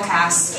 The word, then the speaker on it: Kass: um his last name rhymes with ass and he's going to